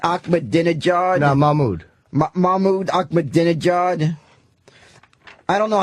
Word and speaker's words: Mahmoud: Mohammed Ahmadinejad. No, Mahmoud. Mahmoud Ahmadinejad. I don't know how to pronounce these.